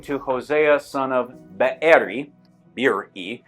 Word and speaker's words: Beeri: Beeri is how English white Anglo-Saxon tongues typically pronounce it, but those are 2 separate vowels in Hebrew.